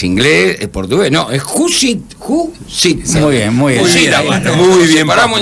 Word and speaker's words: Jusid: No, es Judicit. Muy bien. Muy bien, paramos en sílabas.